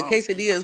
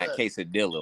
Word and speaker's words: quesadilla: Got Oh, the quesadillas go crazy. I love a I love a good quesadilla order in person. I'm glad you said it right. Not quadilla like most people be doing.